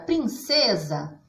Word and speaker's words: princesa: Na palavra princesa, a sílaba tônica está no meio, é o C. Olha como nós falamos. Princesa.